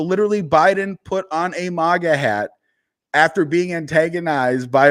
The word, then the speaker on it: MAGA: his head I know some people don't like the fact that I say Maga they want to say mega but I'm a data guy not a data guy it's just how I pronunciate my A's um but that's why